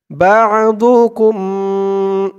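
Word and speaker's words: بَعْضُكُمْ: মিন যাকারিন আও উনসা বা'দুকুম বা বা বা দিয়ে আইন ধরবে, আইনের উচ্চারণটা গলার ভিতর থেকে শক্ত হয়ে আসবে।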